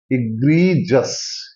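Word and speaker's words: egregious: हैं यह है एग्रीस इग्री जस इग्री जस इसको बोलेंगे इग्री जस इग्री जस ग्रीस है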